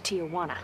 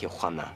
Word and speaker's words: Tijuana: Now, let's talk about that surprise little trip to Tijuana. It's pronounced Tijuana.